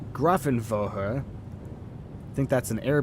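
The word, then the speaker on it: Grafenwöhr: over grothenwower grafenwolfer Grafton grafen vohra which would be technically how you pronounce that gruffin vohra I think that's an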